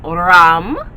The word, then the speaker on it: ram: frequency and meditating the sound of your solar plexus chakra is ram ram right and again it should be deep and throaty r-a-m is how it's spelled use healing stones connected